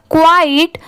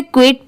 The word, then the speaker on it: quiet: IN इन अ क्वाइट, बहुत सारे लोग इसे क्विट पढ़ते हैं बट वो रॉन्ग होता है। इसकी सही प्रोनाउंसिएशन है क्वाइट, QUIET।